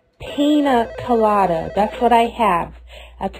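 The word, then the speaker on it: piña colada: no Mr Moco no no no no it's pronounced pina colada that's what I have that's what I have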